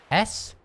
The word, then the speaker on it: sure: S-U-R-E. Not S-H-O-R-E. That's shore, like a beach shore. That's shore. They're completely separate words, and as a result, they have different pronunciations.